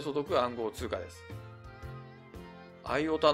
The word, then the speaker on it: IOTA: 素読暗号通貨ですアイヲタのトークン情報を見てみましょうトークン目は io たーーー io たと読む人もいますシンボルは mio チー